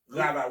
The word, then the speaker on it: Rava: Rava, one of the big rabbis in Pronounce that again.